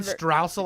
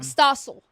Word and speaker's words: Stossel: John Straussel, I think is his name. Yeah. I don't want to say it wrong because then everybody's going to call me a dummy. And I'm not dumb. Stossel.